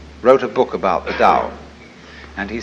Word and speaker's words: Dao: So their principle of nature is called a Dao. T AO pronounced dao in the Mandarin dialect, tao in the Shanghai dialect, toe in the Cantonese dialect.